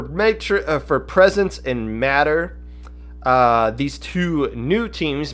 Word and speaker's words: MATR: good for them matter m-a-t-r they are it is pronounced matter i saw somebody ask